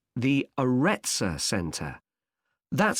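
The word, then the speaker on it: Aretsa: got a rather strange name it's called the aretza center that's spelled a double r e t s a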